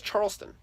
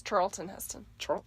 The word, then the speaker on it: Charlton Heston: Is Charleston. No. Charleston No, Heston. no. It's Charlton Heston.